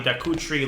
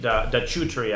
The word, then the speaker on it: da Cutri: But he played a guy named da Cutri, I think it's pronounced. C in Italian is ch.